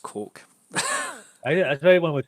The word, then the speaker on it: Koch: It looks like cock, but it's pronounced Coke.